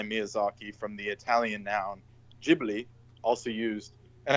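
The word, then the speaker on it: Ghibli: from the Italian noun gibli also used. And I think it's pronounced Gibli in Italian as well with the like the J like a kind of like Arabic J.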